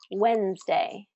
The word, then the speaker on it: Wednesday: So Wednesday really is how it should be pronounced, Wednesday, with 3 syllables, but native English speakers reduce it to Wednesday, Wednesday, Wednesday.